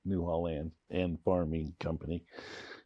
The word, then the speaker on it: Newhall Land and Farming Company: That's how you say it, the Newhall Land and Farming Company. Don't cut it off and say farm, just, that's how we did it.